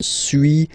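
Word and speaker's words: suis: to pronunciations okay so first one Su as you've been noticing you don't pronounce the final s okay and for two then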